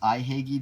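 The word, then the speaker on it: Ihagee: It's pronounced Ihagi Dresden, even though they put a J there.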